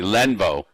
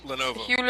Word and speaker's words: Lenovo: it was another company um it's another company lenvo Lenovo you mean Lenovo Lex Mark Lex Mark that's who it was